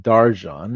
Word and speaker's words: Darcan: And today we have a very special episode with Arin Darjan. It's spelled Darkin, but I'm learning the pronunciations here.